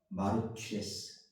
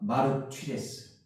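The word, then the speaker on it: μάρτυς: 입니다 근데 여기 진인이라는 의미는 헬라어로 따라해 보겠습니다 마르스 마르 따라합니다 마르스 마르스 저 입술을 바라봐야 돼 그래야지 제대로 발음할 수가 있어요 주세요 마르스 마르스 자가 자입니다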